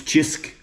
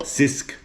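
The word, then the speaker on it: Cisk: It's Chisk, not Sisk. Many people call it a Sisk. But it's a Chisk, pronounced in Maltese with a C, Chisk.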